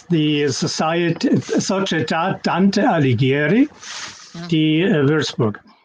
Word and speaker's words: Dante Alighieri: Can you pronounce it again, please? It's the Società Dante Alighieri di Würzburg.